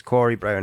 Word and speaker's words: Corey Brown: So I don't get the way that you pronounce it wrong. It's Corey Brown, aka, right?